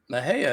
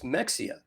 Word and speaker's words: Mexia: no Maha one of them said no it's pronounced Maha and the other one said no it's Mexia and so they went into the first place